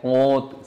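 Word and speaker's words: Comte: সময় মনে রাখার স্বার্থে আমি অগাস্তি কমতি বলে থাকি, কিন্তু আসলে কোতে উচ্চারণ অনেকে বলে থাকে, কোত।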